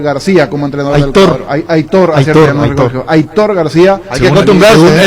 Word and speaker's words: Aitor García: Aitor García. Hay que acostumbrarse. Él mismo dice que así se pronuncia.